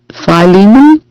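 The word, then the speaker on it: Philemon: Phile Phileiman. Yes, that's how it's said. Phileiman. I always have trouble saying it.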